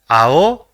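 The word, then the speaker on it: あお: love let us see the second word the first character in the word is ah and the second is O so it will be pronounced as AO which means blue let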